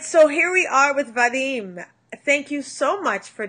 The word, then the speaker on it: Vadym: so I make sure I say it right Vadim just call me Vadim Vadim but I need